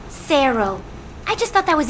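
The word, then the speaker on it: cero: know how to pronounce zero in Spanish it's pronounced Sero I just thought that was interesting piece you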